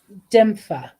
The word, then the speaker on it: Dymphna: You can also release any upsetting emotions to God, Saint Dipna, and the angels for healing and guidance. Okay. Dimfa. That's how you pronounce her name.